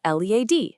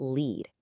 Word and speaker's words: lead: On one side, you've got lead, pronounced lead, which means, to guide someone. But then you have lead, pronounced lead, the heavy metal. Same exact spelling, but completely different sounds and meanings.